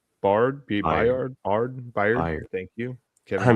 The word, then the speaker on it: Byard: Kyle Hamilton and Kevin Bard. Byard.